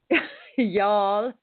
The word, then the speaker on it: Youghal: there along that coastline, Youghal or Youghal? Y'all. Yeah, I'm in Youghal, which is spelled Youghal. So not W, not Y-A.